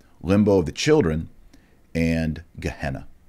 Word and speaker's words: Gehenna: of the children and gehenna sometimes pronounced jehenna all right so that's